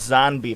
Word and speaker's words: Zonbi: This is They're called zombie puffs. Zombie puffs. No, it's spelled with an N. It's weird, and there's no E. It's ZONBI. ZONBI.